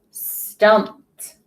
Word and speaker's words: stumped: Stumped. We start off with that blend. That ED is making the T sound because of that P is an unvoiced sound at the end of the word.